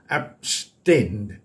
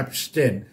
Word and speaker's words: abstain: ค้าน and 199 abstain ออก เสียง ว่า abstain หนัก พยางค ที่ 2 abstain and the most of